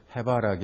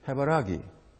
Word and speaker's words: 해바라기: 우리 표준말의 그 리듬은 표준말의 그 악센트가 있으면 두 번째입니다. 그래서 해바라기 하는 것이 표준말의 발음이에요. 그 표준말의 리듬입니다. 그리고 해바라기 하는 것은 몇 번째 음절에 있다고 그랬습니까? 세 번째라고 그랬죠. 악센트가 세 번째 있어요. 이것은 경상도 지역에서 쓰는 악센트입니다. 그 리듬이 해바라기 이래요.